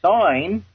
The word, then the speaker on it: sign: When you take the G out of sign and you put a bracket around it because you don't pronounce the G, well, that equals sin.